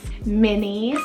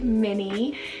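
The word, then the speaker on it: Minnie: names there and it means Meadow of pearls mini spell m-i-n-n-i-e mini this one's super cutesy means of the mind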